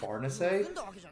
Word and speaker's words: Farnese: one of my friends for pronouncing her name fares instead of farness we don't really know